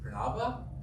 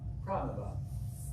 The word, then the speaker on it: Pranaba: So when I got into the dentist chair and they did the assessment, and the dentist says, so, is it pronounced Pranaba? And I said, you're close. Pranaba.